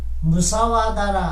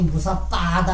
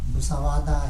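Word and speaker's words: musāvāda: 망호란 남을 거짓으로 속일 뿐 아니라 자신의 마음을 속이는, 거기 무사빠다 했는데 그것도 너무 발음 잘못 기어한 거야. 무사와다 이제 이렇게 무이하고 위 사이의 의미 나오게 됩니다. 그래서 무사빠다보다 무사와다 이제 이런 말이 많이 나갑니다. 마음을 속이는 것을 말한다.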